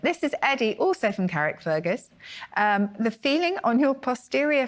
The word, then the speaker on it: Carrickfergus: pronounce it? Carrickfergus.